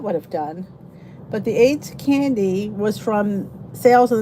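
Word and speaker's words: Ayds: it does aids candy bar still exist aids pronounced aids reducing plan candy is discontinued appetite suppressant candy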